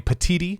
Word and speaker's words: Petitti: George Kliavkoff at the Pac-12, Brett Yormark at the Big 12, and now Tony Petitti is how you pronounce his name. I believe that's right.